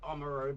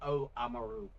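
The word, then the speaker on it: Oamaru: People pronounce it Omaru but it's O Aaru.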